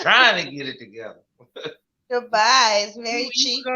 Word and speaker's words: Dubai: Probably to Badu. To Badu. How you say it? But Dubai.